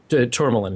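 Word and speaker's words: Tormolen: I'm forgetting how to pronounce his last name. Tourmaline? Tourmaline, yes.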